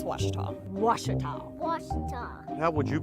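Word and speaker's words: Ouachita: for wasita Baptist University back in Texas everybody pronounces it Witchita but really it's was was was how would you pronounce it was was it's was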